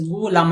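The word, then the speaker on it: غلام: नहीं, गुलाम का जो सही प्रोनाउंसिएशन होता है वो है गैन पेश गु लाम अलिफ लाम मीम, गुलाम।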